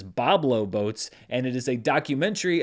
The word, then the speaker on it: Boblo Boats: dollars in one theater I was corrected on that pronunciation by a few people last week I think I said Boblo boats but it is Bob low boats and it is a